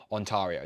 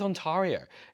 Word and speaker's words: Ontario: Like I thought it was Ontario. Not even it didn't even cross my mind it might not be pronounced Ontario.